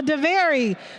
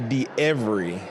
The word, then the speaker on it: DeEvery: So, DeVary, what do you have for us today? Doing good. It's actually DeEvery. But that's okay. Everybody pronounce it wrong. Everybody but my mama get it wrong.